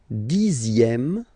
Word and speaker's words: dixième: Le dixième, so remember, even if you've got this X here, you pronounce it Z.